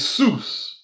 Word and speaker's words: sous: Greeks use sous, like sous chef, or so it's the S is, the second S is silent, so sous chef or sous, meaning under or below.